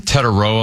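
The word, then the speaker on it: Tetairoa: How do you pronounce the McMillan character? Tedoroa McMillan. Say that again. Tederoa McMillan.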